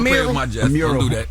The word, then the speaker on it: mural: is it called a mural a mural is it's spelled m-u-r so it's a Merle they got this big